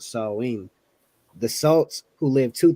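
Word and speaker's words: Samhain: date back to the ancient Celtic Festival of Sam Hayne which is pronounced saline the salts who lived two thousand years ago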